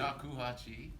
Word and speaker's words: shakuhachi: He is a multi-award-winning Japanese, now how do you pronounce the flute? Shakuhachi.